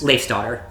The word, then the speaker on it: Leifsdottir: This group consists of the quiet, reserved Kincaid, the excitable adrenaline junkie Rizavi, the intelligent and socially awkward, how do you pronounce this? Leif's daughter.